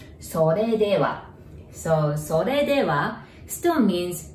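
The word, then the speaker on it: それでは: Sore dewa. Notice there is R there. So there is no R sound in Japanese, right? You pronounce it like L. Sore dewa.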